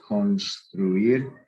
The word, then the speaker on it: construir: Any verb that ends in UIR, not GUIR, but UIR, where you actually pronounce the U, like construir.